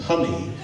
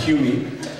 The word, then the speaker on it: Hummie: My name is actually pronounced Hummy, not Humie.